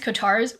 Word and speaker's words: COTARS: Because everyone who joins COTARS, which is how I pronounce the abbreviation of Court of the Rising Sun, because it sounds better, gets access to the Magical Art of High Strangeness course.